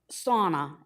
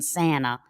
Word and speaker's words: sauna: Sauna, as in spa, sauna, not the southern pronunciation, Santa, sauna.